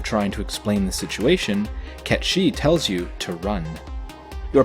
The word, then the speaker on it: Cait Sith: Cait Sith, and yes, I am pronouncing it correctly as it is a Gaelic term meaning fairy cat, is introduced to the party during their exploration of the Gold Saucer.